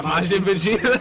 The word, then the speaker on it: Majin Vegeta: Is that how it's pronounced? Yeah, Majin Vegeta.